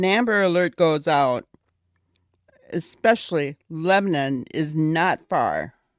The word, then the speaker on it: Lebanon: not from there either, and it's Lebanon. It's how they say it, Lebanon.